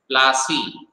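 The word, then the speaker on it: Palashi: अब ब्रिटिशर्स को पलासी तो आता नहीं था, so what they pronounced it? पलासी। इसलिए पलाश से बन गया पलासी, और पलासी का जब ब्रिटिशर्स ने यूज किया तो बना दिया उसको प्लासी, है ना।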